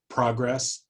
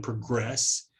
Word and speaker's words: progress: most of the time in a two-syllable word uh you'll see that with nouns and adjectives the stresses on the the first syllable uh and then on verbs the stress tends to be on the last syllable I think the place where this is clearest is whenever you have um the uh a word that is both a noun and a verb like progress and progress you can clearly hear